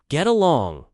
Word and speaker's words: get along: The stress is on along. Get along.